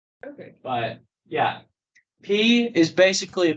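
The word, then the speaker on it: π: It's P. P. Why do we pronounce it pi when we're doing math? Because English changes some things.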